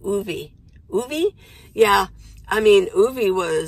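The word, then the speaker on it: Ove: I think because I listened to the audiobook, I think his name is O-V-E, and it's Scandinavian name, and I think they pronounced it Ovi.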